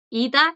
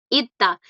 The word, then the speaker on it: 있다: ida, 있다. Pero se escriben diferente. Aquí está el verbo Gracias, profe. tener. Tranqui, pero en infinitivo. Ida, Ita. Sí, porque es como doble D, ¿viste? Ita.